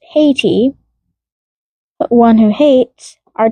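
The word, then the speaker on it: Hati: and Haiti, pronounced haty, but one who hates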